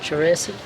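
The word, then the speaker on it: Charissaty: That's pronounced. Cherissity.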